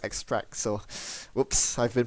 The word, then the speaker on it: extrac: Force extra SE uh apparently it's spelled is pronounced extract so whoops I've been pronouncing it wrong all